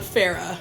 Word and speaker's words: Farrar: For years I thought his name was John Farrar, but John Farrar, I guess is the Australian pronunciation.